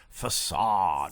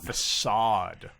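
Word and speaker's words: façade: to the fore was facade facade it's not not it doesn't rhyme with grenade right you know i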